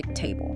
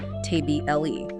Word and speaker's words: table: For instance, we say table. The stress is on the first syllable. We don't say tble e, right?